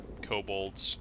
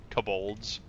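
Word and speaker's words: kobolds: I had to completely switch how I pronounce cobalts because in one of the first videos I made of monster mechanics, I had called them coss for so long and I got ripped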